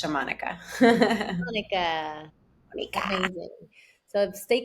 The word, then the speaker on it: Xamonika: So if you want to connect with me, my social media is XA.Monica with a K. And it's pronounced Shamanika.